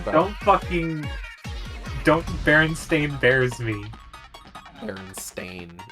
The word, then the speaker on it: Berenstain: Berenstain. It's still Berenstein Bears. It's Berenstein Bears, but it's pronounced that way. It's just spelled different.